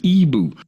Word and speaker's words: Ebo: And if you click this right here that says listen, it will pronounce it for you. And the voice says, "Ebu."